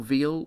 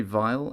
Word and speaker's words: Weil: And is it Vile or Veal or... I would say Vile, I think. Even though, I mean... If it's German, it's definitely Vile.